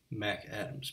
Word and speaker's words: McAdams: station where we serve McAdams beer or as the locals say Mack Adams beer that is to